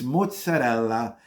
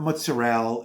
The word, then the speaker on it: mozzarella: people mispronounce this word it's mozzarella it's not mozzarella it's not uh yeah it's not mozzarella it's mozzarella you have to add the a they keep taking away